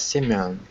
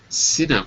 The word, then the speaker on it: Sinam: Sinam? Yes, Simeon. Sinam.